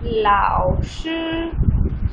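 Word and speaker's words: 老师: अब आप देखें अ पे जो साउंड है वो कर्व है, तो इसको हम कर्व साउंड के साथ प्रोनाउंस करेंगे, और यहाँ पे अ पे जो साउंड है, अ पे जो जो ये टोन है वो फ्लैट टोन है, तो इसको कैसे प्रोनाउंस करेंगे, लाओश लाओश लाओश, ठीक है।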